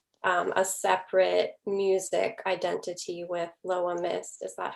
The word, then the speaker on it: Loa Myst: You really embrace that, but then you also have a separate music identity with Loa Myst.